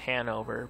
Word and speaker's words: Hannover: I know the one team is pronounced Hanover, but the other team, I'm not even gonna try to pronounce the name of that team.